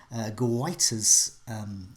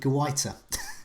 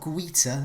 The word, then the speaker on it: Guaita: But I think I've nailed it with Guaita. And I've been on some pronunciation sites. So it's not Guita and it's not Giata. It's Guaita.